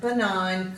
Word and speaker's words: benign: Our words today are nash, null, align, benign, consign, dane, reign, foreign, campaign and assignment. So in these words the G is silent and it usually comes before an N.